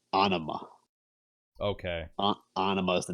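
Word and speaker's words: Ænima: So the song Third Eye so I was going to pronounce the album Anima, like anima, like something like that. That's what I thought. So there's a video that where Adam Jones calls it Anima.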